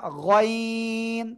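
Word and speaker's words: غين: সবাই জোরে বলেন গাইন না এটা গাইন তিন আলিফ টান হবে মোটা আওয়াজে এই গলার শেষ ভাগ থেকে উচ্চারণ হবে ঠিক আছেন যারা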